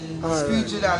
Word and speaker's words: Screechy Dan: Screechy Dan, and it's spelled SCREECHY. Make a song out of it. DAN, not DON, DAN.